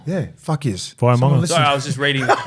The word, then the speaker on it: Vaimauga: Via Manga. Yeah, fuck yes. Via Manga.